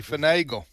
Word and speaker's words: finagle: Oh, just like it sounds.